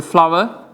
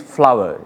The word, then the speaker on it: flour: Normally I want to say that in Sri Lankan pronunciation they call it flour. It's a corrupted pronunciation actually. The actual word is flower. F-L-O-U-R has to be pronounced as flower, as we call flower the things that blossom in trees.